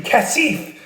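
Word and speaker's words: کثیف: Then with the Persian word of the day, it's dirty, kasif. Dirty, 2-syllable, kasif. Cat is dirty, needs sieve for kasif, kitty.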